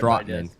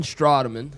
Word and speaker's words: Strateman: Strateman.